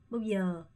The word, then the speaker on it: bao giờ: 이렇게 두 음이 있을 때는 첫 번째 음을 좀 짧게 하시고 두 번째 음에 조금 더 강세를 주면서 bao giờ 한국 한국 이렇게 해주시는 게 훨씬 자연스럽다고 말씀드렸죠.